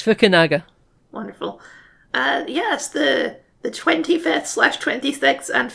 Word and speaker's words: Fukunaga: Oh, did I put a W in there? You did put a W in there. It's Fukunaga.